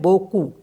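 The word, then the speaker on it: beaucoup: Next word है बोकू means होता है अलॉट, इसको पढ़ते हैं बोकू, तो P जो है इसमें साइलेंट होता है।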